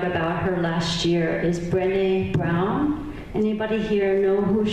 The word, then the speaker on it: Brené: her last year, is Brené Brown. Anybody here know who she is? Brené Brown. B-R-E-N-E is her first name with accent on the second E.